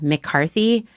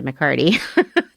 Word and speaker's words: McCarty: I am so tired of people introducing me as McCarthy when we all know I am McCarty.